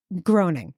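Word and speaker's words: Groening: it's a huge embarrassment I don't know if it's groaning grenning or graining but groaning groaning thank you who is The Mastermind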